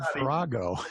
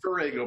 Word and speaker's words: Farrago: But he said Farrago. I went, huh, okay. Yeah. Well, it's Farrago, but that's okay.